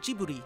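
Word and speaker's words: Ghibli: 12 the original word gibli is pronounced with a hard G instead of a soft G used by the studio supposedly this was miyazaki's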